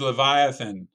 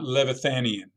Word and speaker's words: leviathan: bit was totally brilliant the word is leviathan not levithanian they attempted to seem